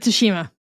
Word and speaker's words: Tsushima: Damn, you guys' pronunciation is just driving me up the wall. But yes, it is Ghost of Tsushima.